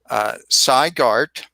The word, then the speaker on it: Garte: Garte. Did I pronounce that your name right?